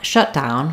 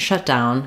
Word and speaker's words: shutdown: or in the noun shutdown, for example, there may be a government shutdown starting soon. We have it's called a compound noun. So, it's a compound in that we stress the first syllable.